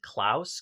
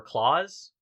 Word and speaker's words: Klaus: because like last year even Klaus came out or Clause depending on how you want to pronounce it but like it's one